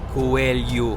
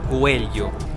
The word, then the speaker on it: Coelho: Coelho. Coelho. O LH é um som difícil. Coelho. Coelho. Coelho. Very good. Mais uma palavra em que, para variar, todos os Os se leem U.